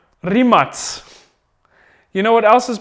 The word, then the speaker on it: Rimac: know these guys as Rimac let me tell you something it's pronounced yes anybody got a guess I pretend like there's an audience here there's not really it's pronounced three mutts you know what else